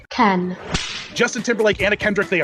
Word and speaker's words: Cannes: They took this over-the-top pop kids movie and they had a world premiere at the Cannes Film Festival. Did I say it right? I didn't say it right, did I? Cannes.